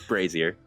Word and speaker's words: brazier: I think it's pronounced differently. Yeah, it's Brazier.